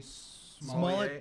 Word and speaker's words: Smollett: No, it's pronounced Smollett.